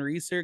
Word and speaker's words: Reesor: number two Pure Stock from Sunset Speedway Reeser how are you man no it's about